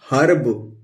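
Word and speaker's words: herb: इसी तरह ये ह है, तो ह लिख लेंगे, और ई को हम अ प्रोनाउंस करेंगे, और ये आधा र ऊपर लगा दिया और ये ब लिख दिया, तो ये क्या हो गया हर्ब।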